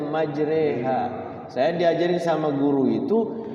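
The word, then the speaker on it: مجراها: gitu Kay Serang ya maj bukan majra maj Tapi bacanya majreha saya diajarin sama guru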